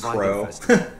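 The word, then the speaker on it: Qrow: Oh yeah, I found out that Q-R-O-W is pronounced Crow.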